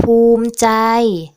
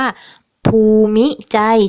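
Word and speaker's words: ภูมิใจ: ว่า ภูมิ ใจ ก็ ภูมิ ใจ อา ซึ่ง ถ้า เรา อ่าน ตาม ตัว เนี่ย มัน ก็ จะ อ่าน ว่า ภู มิ ใจ ใช่ ไหม คะ แต่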